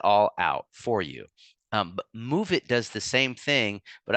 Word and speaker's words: Moovit: But I wanted to get to our last app called Move It, and that's spelled Moovit.